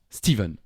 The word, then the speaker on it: Stephen: flash je crois Steven les Américains prononcent Stephen Steven aussi comme s'il y avait un V en tout cas nous on dit Stephen King on peut s'arrêter là